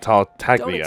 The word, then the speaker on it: Tartaglia: again y you're forgetting something about me I tartaglia spend every second oh so that's how you pronounce it tartaglia expect to have it quite so easy next